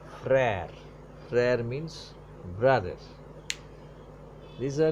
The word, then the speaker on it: frère: Flattened pronunciation. Per means father. Mer means mother. Frère, another word. O aksa grab er o. Frère.